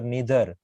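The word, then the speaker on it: neither: Actually हम आइदर और नाइदर बोलते हैं, पर इसका प्रोनाउंसिएशन होता है ईदर और नीदर, ईदर और नीदर नॉर।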